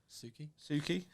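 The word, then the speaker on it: Tsuki: Suki. Suki. I just assumed it was a silent T.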